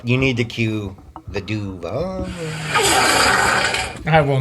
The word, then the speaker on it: Duval: It was the shittiest Duval I've ever It heard. was terrible. You know, it's supposed to be like Duval, like right? He put the emphasis on the wrong syllable.